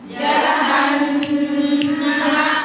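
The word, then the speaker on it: جهنم: Gunah itu dengung. Ada dua huruf dengung. Nun bertasydid, mim bertasydid. Cara bacanya gimana? Ditahan. Ditahan. Dengungnya dua. Inna amma gitu kan.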